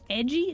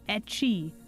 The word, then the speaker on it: ecchi: Like edgy? No, not edgy. Etchy.